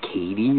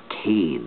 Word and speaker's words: Cade: guy mispronounced my name he's like is it Katie or a or whatever you know and I was like no it's Cade you know like a guy's name and he's like oh